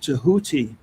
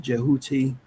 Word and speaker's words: Tehuti: And and and on that note, I did want to ask you this question as we're we're speaking about Tahuti tonight. Some people pronounce that jahuti.